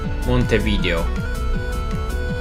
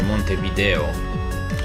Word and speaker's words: Montevideo: Well, let me give you another capital, Montevideo. Or Montevideo, depending on how you pronounce it.